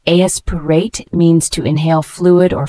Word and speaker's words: aspirate: It's a verb pronounced aspirate, means to inhale fluid or foreign objects into the lungs.